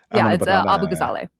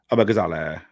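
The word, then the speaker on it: Abughazaleh: I've been Have I been saying your surname wrong? I'm sorry. Abu Gazale. Abazal.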